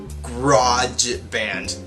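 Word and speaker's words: Grojband: a show called uh garage band which is not spelled like garage band it's groj band garage band because poor literature is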